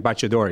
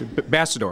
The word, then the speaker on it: Bassador: I always say Italian, Baciador. He goes, no, it's Bassador.